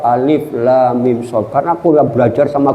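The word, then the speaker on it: المص: Bacanya Pak, alamasu. Waduh hebat. Jadi saya ngomong, afwan ya saya antum khoto, ente salah. Aswab alif lam mim so.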